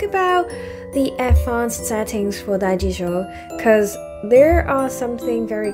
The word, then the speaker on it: Daijisho: And I always find it very weird to say like Daijisho, because like it is totally not the way how we should pronounce it. The correct pronunciation is Daijisho.